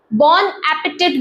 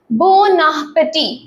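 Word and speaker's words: bon appétit: आप बोलते होंगे तो आप बोन एपिटेट बोलते होंगे। बट इट इज a French word which is pronounced as बोनापेटी। ए का आपको साउंड इसमें नहीं आता है।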